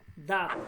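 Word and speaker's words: دانت: জন্য দাত খানা চাবানে দাত এখানে ননটা উচ্চারণ হবে না কিন্তু লিখতে হবে দাত এইযে দাত খানা চাবানে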